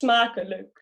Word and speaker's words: smakelijk: Like it's 8 is almost good as 8, but the second word is smakelijk.